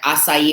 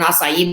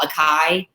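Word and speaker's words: açaí: you're talking about with a lot people call a chi bowls and so when you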